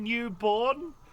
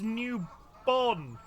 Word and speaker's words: Newbon: If you catch me saying newborn, I was informed by the internet today it's Newbon.